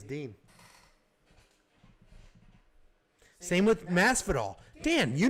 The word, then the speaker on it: Din Thomas: Dean, he says. Yeah. Everyone says Din.